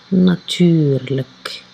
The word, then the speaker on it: natuurlijk: achtervoegsel اللي هي هادوك الحروف الأخرانيين L I J K واللي كتنطق لك. يعني عندنا ناتور بلس achtervoegsel L I J K لك كتعطينا ناتورلك.